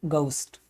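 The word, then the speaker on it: ghost: तो अंग्रेज जब भी पढ़ेगा घोस्ट को, वो घोस्ट नहीं पढ़ेगा, वो पढ़ेगा इसको गोस्ट।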